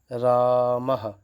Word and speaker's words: रामः: फिर आता है विसर्ग, जिसका उच्चारण, ये 2 बिंदियां रहेंगी, ह हलंत, ह की तरह इसका उच्चारण करेंगे। जैसे यहाँ लिख देता हूँ रामः, क्या आ जाएगा?